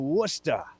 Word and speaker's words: Worcester: Here in Worcester, as they say it. Don't pronounce the R at the end.